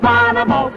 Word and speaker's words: Bonomo: You spell it B-O-N-O-M-O. Bonomo.